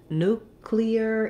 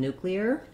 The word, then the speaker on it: nuclear: american english and then this looks like the word clear but in nuclear it's three syllables the clear is two syllables so we have first syllable stress new then we have cli er so there is a little bit of a glide there i don't have to make a strong yah sound in nuclear just notice that when